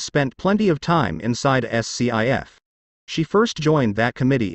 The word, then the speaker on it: SCIF: 3 Capitol Hill they call it a scif pronounced skiff a sensitive compartmented information